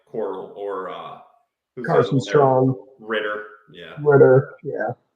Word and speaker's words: Corral: How's it said? I think they say Coral mostly here.